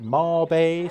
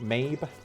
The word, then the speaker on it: Mabe: Some people pronounce it Marbe, some people say Mabe. I just call it Mabe.